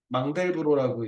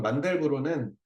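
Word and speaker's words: Mandelbrot: 있는데이 표기불이 바뀌어 가지고 이건 만델부로는 이게 그 영어식 그 발음이고이 사람이 프랑스 프랑스 사람이니까 자기네들 말대로 읽어 주는 거 예전에 마우적등을 못동이라고 우리 식으로 읽고 이런 방식보다는 원어대로 읽어주라 그래서 요즘 마우스 이렇게 하잖아.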